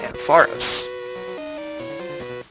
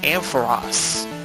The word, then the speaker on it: Ampharos: secret potion to Jasmine's Ampharos. Or here's the worst thing, I found that Pokemon's name is pronounced Ampharos. I thought it was Ampharos.